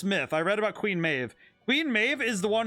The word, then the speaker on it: Maeve: of May of Queen Maeve here the reason it says Maeve not m a b not mab it's because it is Celtic I actually read this myth I read about Queen Maeve Queen Maeve is the